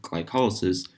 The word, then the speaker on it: glycolysis: the higher processed glycol lysis or as we pronounce it glycolysis literally literally just means splitting apart sugar our